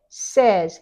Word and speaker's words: says: says saying said said we change that a and this to a short e says he says or they